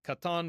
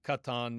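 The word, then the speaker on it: קטן: Um but the modern Israeli pronunciation is going to be katan with just a regular K.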